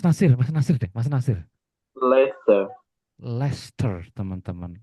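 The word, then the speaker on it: Leicester: Lester teman-teman. Ler tulisannya sih Leester, Teman-teman. Tapi melafalkannya Ler.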